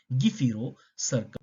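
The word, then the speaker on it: gephyrocercal: we do have the give hero circle we also called as the gif hero circle caudal fin or giffiro circle cordolfin but mostly it is pronounced as the gifiro circle caudal fin now first of all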